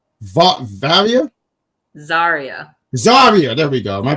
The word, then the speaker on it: Zaria: Varia, not Varia. No, no. The one with the V. Varia? Zaria.